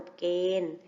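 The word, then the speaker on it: กฎเกณฑ์: ฤาษี การันต์ อ่าน ว่า ดาว ฤกษ์ สัปดาห์ มี หอ หีบ การันต์ อ่าน ว่า จับ ดา กฏ เกณฑ์ มี ทองมณโฑ การันต์ อ่าน ว่า กฎ เกณฑ์ สัตว์ มี วอแหวน การันต์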